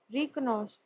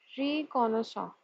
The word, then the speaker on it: reconnaissance: Now, key features of the bill: introduction of exploration license for deep-seated and critical minerals to undertake reconnaissance. Let's see how this word is pronounced. Reconnaissance.